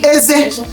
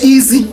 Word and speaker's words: eze: Some people will see it and say easy, easy. It's not easy. Igbo does not pronounce e as e. They pronounce it as eze, eze or eze or anyhow, but just get the spelling eze.